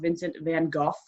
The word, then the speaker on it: Vincent van Gogh: And it's about the sad life of Vincent van Gogh, which, did you know his name is pronounced Vincent van Gogh?